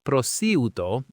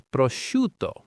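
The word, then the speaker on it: prosciutto: The ci combination here makes a shuh sound. So it's not prouto, it's proto with the stress on the shoe.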